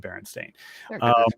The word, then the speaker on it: Berenstain: very old memory that no it's Baron stain it's always been Berenstain Bear it's bears bear and Stein yeah no but I mean but but the last name is usually spelled like Bernstein you know like the composer oh okay doctor it's Bernstein but it's s-t-a-i-n and and that that's